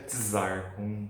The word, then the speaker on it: czar: E a pronúncia é czar, com T.